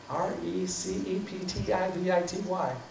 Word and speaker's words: receptivity: R-E-C-E-P-T-I-V-I-T-Y. Whatever. Receptivity, right. There, thank you. I just look at Patricia. I got my syllable, the accent on the wrong syllable.